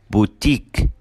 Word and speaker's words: boutique: الكلمات اللي بتنتهي ب IQUE بننطقها كمان long E. فبنقول unique, boutique, critique.